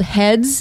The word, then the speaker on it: Head's: It's called Heads, and I'm pronouncing the S because it's possessive.